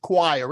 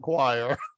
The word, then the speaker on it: choir: how we read this word right yep it's pronounced choir it's French I don't know how French pronounces it but we pronounce it choir okay quiet means that you see Sing Sing